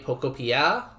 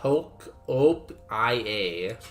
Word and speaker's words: Pokopia: How dare you say Pokopia? It's obviously Poke-op-ia.